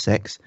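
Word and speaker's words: CeX: plug them again and it's spelt see expert pronounced sex and it's a computer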